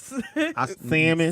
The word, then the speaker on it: salmon: Pink, You know you don't pronounce the L in it. salmon, Sam. Salmon.